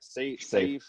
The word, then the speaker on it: Saif: Your coach, Saif, how do you say it? Saif, right? Saif. Just Saif. It's just spelled differently. Saif.